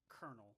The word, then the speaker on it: colonel: But the person that signed off is a colonel, and you would think that colonel is spelled not Colonel, because it doesn't sound like colonel. It sounds like Right. kernel, like the thing you Well, like a kernel of I'm corn.